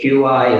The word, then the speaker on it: Qi: You'll see it Q-I as well, but it's pronounced Qi.